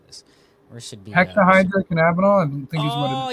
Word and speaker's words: hexahydrocannabinol: Where should be hexahydrocannabinol?